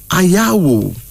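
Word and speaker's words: Anyawu: That's A-N-Y-A-W-U, pronounced as Ayawu.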